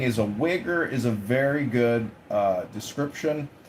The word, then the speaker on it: Uyghur: I know what the joke was, but the actual pronunciation of their name, the Chinese group, the minority group in English, is this weird. Thing. Uyghur.